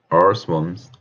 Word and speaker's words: earthworms: Yeah, because the stress is only in Earth. Yeah, so Earth.